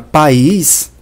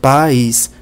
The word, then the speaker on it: país: chamamos de ditongo decrescente na palavra país nós temos um iato ou seja duas vogais lado a lado eu sei pela pronúncia país as vogais são pronunciadas separadas são duas vogais separadas pais pela pronúncia eu